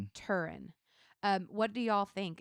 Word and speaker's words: Turin: Um, the shroud of how how do you pronounce shroud of Turin? Turin.